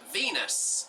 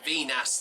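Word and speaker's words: Viñas: And Aguirre number 26 is off for Venus at number 19. And I meant to say Venus there, not the planet Venus, of course.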